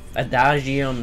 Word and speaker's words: Adagium: In the Adagium, that's how you say it.